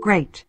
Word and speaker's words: great: E I đọc là A.